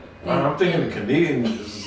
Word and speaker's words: Konigin: it is uh oh i've been saying calming cuts a lot right right so everybody give me the breakdown about that i've been saying it wrong and i knew i was saying it wrong and now just give me the history in the background about that because i don't know everybody's been saying that wrong it's it's it's canadian cuts which is in german